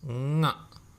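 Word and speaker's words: ಙ: that is how it is pronounced. Nga. Nga. Ng. And the root consonant, if you are to write it in English, you would write with the help of N and G. How would you pronounce this particular word, right? Ng, ng, ng. And that is how you pronounce this root consonant.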